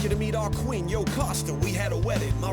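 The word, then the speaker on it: Jocasta: and none other and that yoosta whose name rhymes with pasta marrying her it came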